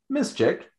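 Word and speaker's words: Miszczyk: sure i get the spelling completely correct it is spelled m i s z c czyk now this artist miss chick is actually one of our best friends in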